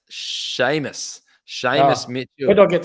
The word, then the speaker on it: Seamus: them tell me about Seaman Mitchell yeah so it's actually pronounced Sheamus Sheamus Mitchell you don't get semen from I don't know yeah it's an Irish name Seamus Mitchell it's it's